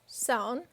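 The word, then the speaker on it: Samhain: and wore costumes for the festival called zone pronounced sown or sound rhymes with cloud in 43 the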